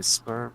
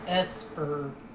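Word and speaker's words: Sburb: If anyone is planning on trapping us inside a Spurb session anytime soon. God, it annoyed me how some people pronounced it as Esper. Like, it's yeah, it's supposed to be like suburb.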